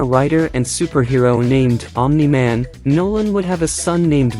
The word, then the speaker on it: Nolan: Nolan, pronounced Nolan, better known as Omni-Man and also known by